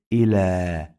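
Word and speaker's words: إلى: Here I say ila. We pronounce this ya like long vowel alif, not ya.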